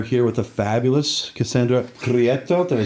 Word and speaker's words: Prieto: and we are here with a fabulous Cassandra pretto did I say that properly yes you said